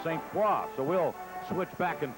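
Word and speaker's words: St. Croix: paa here in Philadelphia they sometimes pronounce his name St Croy the correct Prince pronunciation is St qua so we'll switch back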